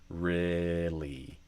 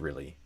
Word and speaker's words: really: match what I do, I typically do a eh sound for the first syllable of really. So kind of like e fechado, really. And then the second syllable of really has a fleece vowel, a E sound. So E, really, really.